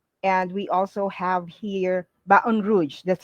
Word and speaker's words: Baton Rouge: And we also have here Baton Rouge. That's how you pronounce it. Baton Rouge in Louisiana.